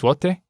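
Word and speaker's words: złoty: And that I actually did look up because it's spelled like Z-L with a small line through it, O-T-Y. But apparently that's zloty.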